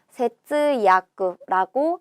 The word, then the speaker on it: 節約: 마디절에 맺을 약자를 써서 세츠야쿠라고 읽습니다.